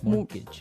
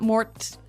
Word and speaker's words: mortgage: with a t yeah it has a t in it but you don't pronounce it you say mortgage morgage so not Mort mortgage not morgage morgage